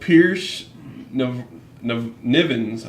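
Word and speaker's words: Piers Nivans: Chris Redfield, Pierce Nivens, I believe is how you say it.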